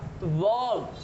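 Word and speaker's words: verb: ये आर जो है वो साइलेंट हो जा रहा है, आप देख पा रहे होंगे। ये जो आर है ये साइलेंट हो जा रहा है। वर्ब, वर्ब, adjective, एडवर्ब।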